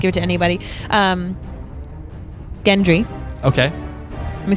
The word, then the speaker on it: Gendry: Gendry.